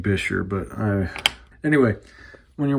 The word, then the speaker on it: Buescher: about snap-in resonators on Bucher pads, Bisher, I should be saying Bisher, but I Anyway, when you're working with these uh snap-in resonators on these old bucher or bisher, depending on how you say it, saxophones, there's kind of an argument.